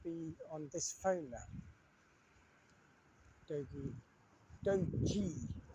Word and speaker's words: Doogee: Doji, I call it Dogi, but it's pronounced Doji officially.